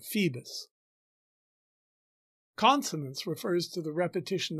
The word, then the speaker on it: Phoebus: funnier the fact that bottom is mispronouncing apollo's name as phibis instead of phoebus consonants refers to the